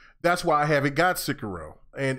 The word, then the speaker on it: Sekiro: And then that's the thing with games like that though, to me, is that's why I haven't got Sekiro.